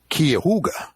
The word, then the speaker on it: Cuyahoga: super that comes up, that he teaches at Cuyahoga, which is a real name. Yep. State College. He repeatedly says it's Cuyahoga.